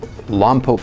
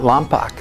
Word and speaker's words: Lompoc: I met this woman at Whitworth College from Lompoc, California. Not Lompoc, Lompoc, that's how they say it there.